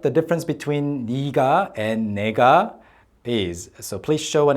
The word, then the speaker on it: 네가: it should be this okay this and the pronunciation is supposed to be something like Nega Nega versus Nega I so you can see